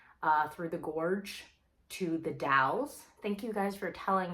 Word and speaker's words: The Dalles: we drove out uh through the gorge to the dalles thank you guys for telling me how to actually pronounce it it's the dalles it's this sleepy quiet little town about an